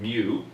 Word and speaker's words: mu: the Greek letter mu some people pronounce it move I'll pronounce it mu and mu looks like the letter U but